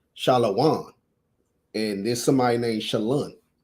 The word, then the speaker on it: shalom: but he was saying even if it's spelled like that, it's still pronounced shalom.